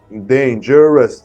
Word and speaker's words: dangerous: It's not 1 syllable, it's dangerous, 3 syllables.